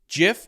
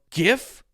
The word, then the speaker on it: GIF: JIF or GIF, JIF or sometimes GIF.